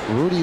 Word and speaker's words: Ruddy: brother young right-hander and it's spelled Ruddy but it is Rudy Lugo the one to Cabrera